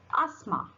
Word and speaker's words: asthma: Now, letter T can also be little sneaky and also be silent, like it.